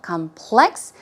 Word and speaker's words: complex: also be complex okay the stress goes on the second syllable complex in that case it